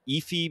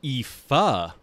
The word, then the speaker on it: Aoife: director on season 1 Epi McArdle nope I pronounced that wrong it is EA McArdle AO i f i